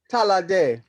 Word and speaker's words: Ta'la'ade: And she's going to present on March 13th, Saturday evening, Oshun, I'm not going to be able to pronounce this right, Talade. You can correct me. Talade.